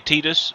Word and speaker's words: Tidus: So yeah, that's the way I look at it, and that's the way I pronounce Tidus. So yeah. But it can be said either way. So when people do say Tidus, it doesn't bother me.